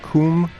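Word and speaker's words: COUM: a pro another project called how did you pronounce it Kum right Kum Transmissions so one thing I was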